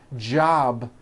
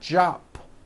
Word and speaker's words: job: For example, job ends in a B, which is a voiced sound. Job. It's not jop with an unvoiced P. Keep the voicing going throughout the whole word. Job with a voiced B ending.